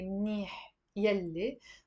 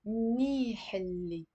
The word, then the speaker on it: منيح اللي: What do you think we mean when we say منيح يلي? But we also pronounce it with a liaison as منيح اللي.